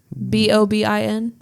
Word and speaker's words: Bobin: at it James bobin I think it is b o b i n bobin that's how I would pronounce it um the cast list